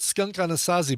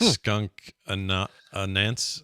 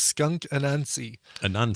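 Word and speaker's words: Skunk Anansie: I always pronounced it Skunk Anasazi, but looking how it's spelled, it's not Skunk Anasazi. Is that like Skunk Anansi? Anansi, kind of like Anansi Boys by Neil Gaiman.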